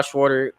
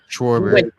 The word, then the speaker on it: Schwarber: But the National League and Kyle Schwarter or Schwarber, however you say his name, Schwarber, he went three for three.